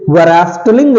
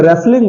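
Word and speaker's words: wrestling: आई एन जी रस्टलिंग इसे रस्टलिंग तो नहीं बोलेंगे इसे रेसलिंग बोलते हैं रेसलिंग here T is also silent here T is also silent because I have O I have टट you after some times T after S when T comes after S it's also become silent so here रेसलिंग नॉट रस्टलिंग okay next is डब्लू आर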